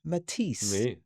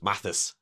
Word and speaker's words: Mathis: I see. Hey. Uh or I've had Matias or Matias. I see. Uh, but but it's pronounced Matis like the artist.